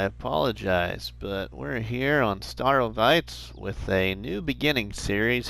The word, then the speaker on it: Starowies: to pronounce it, and I listened to Mr. Sealy P and he pronounces it Starowies. So I hope that I'm saying it hopefully correctly or almost correctly.